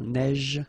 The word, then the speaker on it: neige: so same thing here, a neige, final E not pronounced, you only pronounce this j, same thing here, averse, okay, S is pronounced, the E is not pronounced.